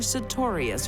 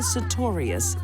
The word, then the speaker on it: Sartorius: I think the best thing to be learned here is never marry a woman whose last name rhymes with notorious.